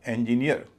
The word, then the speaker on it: engineer: इसका उच्चारण होगा इंजीनियर। अधिकतर लोग इसे इंजीनियर कहते हैं। जैसा कि आपने देखा इसका उच्चारण होगा इंजीनियर ना कि इंजीनियर।